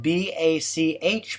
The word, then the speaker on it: Bach: Getting back to remembering Netty Bach, whose last name is spelled B A C H by the way, as in the composer Yan Sebastian Bach.